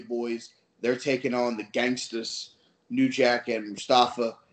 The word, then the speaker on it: Gangstas: Gangstas.